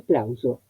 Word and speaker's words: plauso: Porque tengo en la palabra aplauso una S intervocálica, adentro de la palabra entre dos vocales. Entonces no es este fonema, sino es la S sonora.